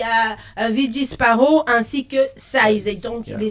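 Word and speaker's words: Sayze: Size c'est pas le size de numéro. Ça s'écrit S-A-Y-Z-E. C'est autre chose. C'est Size.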